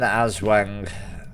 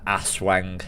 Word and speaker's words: Aswang: But it is an Aswang, not an Aswang.